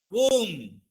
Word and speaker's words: womb: Comb, tomb, womb. So these are the words after M. When the B is there, we should not pronounce.